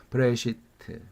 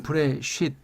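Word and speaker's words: בראשית: 그러니까 이걸 브레쉿 이렇게 발음하는 사람도 있는데 브레시트 그 개념을 이해해야만 한다 그 말이죠. 이걸 브레쉿 해버리면 발음이 딱딱해지고 멋이 없죠. 왜?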